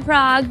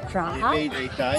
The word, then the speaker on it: Prague: in the US so if you come to Prague you have to go to Kota it's a